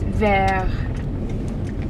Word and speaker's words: vert: car you gotta remember don't usually pronounce the letter at the end of the word unless there's an e after it so this one is just ver instead of vert we dropped hot off